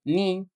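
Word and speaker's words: knee: لو حرف الكي ايجا بعده حرف الان مش بننطق الك زي مثلا نو يعني ايه عارف ني ركبه القاعده الثالثه اللي هي حرف الال حرف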